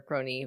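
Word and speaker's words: Krone: but circus crony which we've talked about um it's spelled k-r-o-n-e so circus crone or pony like the biggest uh letdown of 2012 right but that circus circus crone or crony moved by rail until 1999 and then they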